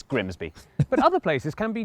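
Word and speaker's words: Grimsby: Looks simple, but what if we told you it was pronounced? We'd be lying. It's Grimby.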